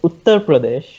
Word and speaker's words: Uttar Pradesh: all to answer ali the state is pronounced as uttar pradesh okay and next uh